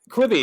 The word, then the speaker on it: Quibi: Quibi, Quibi, yeah.